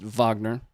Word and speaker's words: Wagner: aren't familiar with Vagner, spelled Wagner, but I did confirm with uh the experts that it is pronounced Vagner, there was a time